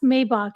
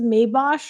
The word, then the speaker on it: Maybach: It's pronounced Maybach. And I, when someone is this wealthy, you start to second guess like your own knowledge. Like maybe it is Maybosh or however she said it.